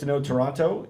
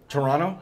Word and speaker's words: Toronto: be awesome down there have to pronounce it Toronto Toronto I'm from there oh thank you it's not Toronto oh I'm so sorry H Toronto yeah